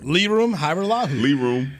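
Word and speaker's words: Lirim Hajrullahu: So Liram Hairularu. That's how you say. That's how you pronounce it.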